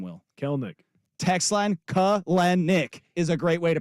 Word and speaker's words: Kelenic: Text line Kelenic is a great way to pronounce his name. But- But nobody knows how to say his name correctly. No, his name is Kelnick.